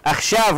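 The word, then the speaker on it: עכשיו: أخشاب لاحظوا كتبت بالعين وتلفظ ألف. أخشاب. تكتب عين وتلفظ ألف.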